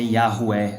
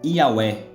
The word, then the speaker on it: Yahweh: Este nome aqui, vou mostrar para vocês agora que este nome aqui, ele se pronuncia Yahweh.